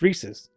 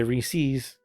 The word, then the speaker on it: Reese's: absolutely no sense because the commercial basically tells you how to say it it's rhesus don't say Reese's so where all this